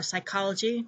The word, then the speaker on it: psychology: p has no phoneme it is usually silent when followed by s t or n at the beginning of a word examples are psychology pterodactyl and pneumonia here are some more